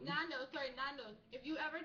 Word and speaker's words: Nando's: I forget how to pronounce it. Tornadoes? You mean the restaurant he likes the Yeah. most? Nando's. Nando's.